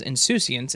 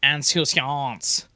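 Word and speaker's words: insouciance: there's two of them one that says inscience and the other one is apparently in French because it says anant and it's the funniest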